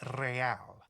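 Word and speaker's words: réal: You owe me 130 realale. He pronounces the R with a mock aristocratic accent.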